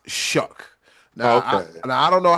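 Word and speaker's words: Shough: It looked like shuff or shook or you know, but it's pronounced shook.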